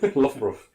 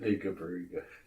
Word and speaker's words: Loughborough: Loughborough. Yeah. Apparently, it's the Australians that call it Lugabaruga.